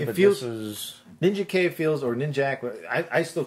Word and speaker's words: Ninjak: It's like, kill Ninja K! Which one? Or, kill Ninjak! I don't know. Is it? They're both pronounced with a hard K at the end.